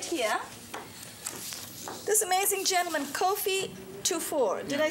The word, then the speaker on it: Kofi Tufor: This amazing gentleman, Kofi Tufor.